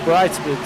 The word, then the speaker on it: Brightsman: And great run by Sean Brightsman. Got to get that in there because, you know, after we got done, he was asking me how I pronounce his name, and it's definitely Brightsman.